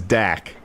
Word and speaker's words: Dak: what's my dog's name his name is dak okay yeah it rhymes with snack i got it now